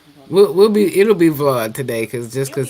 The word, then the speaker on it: Vlad: It's Vlad, like Vladimir.